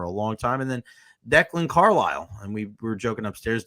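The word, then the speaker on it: Declan Carlile: this system for a long time and then Declan Carile and we were joking upstairs declan Declan Carile Um, I love the emphasis on the Paul Porter the other night and I called him Declan Carla.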